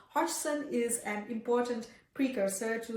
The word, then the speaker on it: Hodgson: Hop, sorry, I'm so excited about Hodson. I keep mispronouncing his name. Hodgson is an important precursor